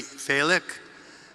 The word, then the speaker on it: Falick: Thank you to our Gala chairs, Neely Falick. And I learned how to say Falick because my mother's middle name was Faye, so Neely helped me pronounce that.